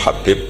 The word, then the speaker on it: Habib: yang nulis Abi Abdurrahman Habib assulami itu di harakatnya kitab itu ada yang nulis khubb Yang benar Oh giih yang benar itu MB bacanya habib habib itu asulami itu ikut